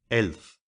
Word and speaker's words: elf: would say for 11 elf pronounced long like elf and for five FF